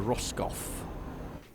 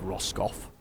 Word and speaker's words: Roscoff: to take us to Roscoff. I'm assuming that's how I'm pronouncing it. It looks like Roscoff. It's like Ross, and he scoffed.